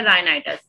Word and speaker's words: rhinitis: इसे राइनाइटिस नहीं पढ़ते, एक साइलेंट होता है, इसे हम पढ़ते हैं राइनाइटिस।